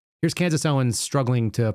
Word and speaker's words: Candace Owens: It's always got to be Tucker Carlson, Cameron Owens. It's Candace Owens. It's Candace. Let's cut here.